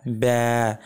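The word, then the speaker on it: ب: এর হরফটি চিনতে পারব তো বা এর মাখরাজ যদি আমরা একটু বা এর মাখরাজ খোঁজার চেষ্টা করি তাহলে দেখব দুই ঠোঁটের ভেজা অংশ বা উপরের ঠোঁট এবং নিচের ঠোঁটের যে ভেজা অংশটুকু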